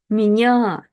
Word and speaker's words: меня: However, here it's part of the bigger word, and ye is not stressed. It's меня, меня. When ye is not stressed, it's reduced to kind of like this e sound.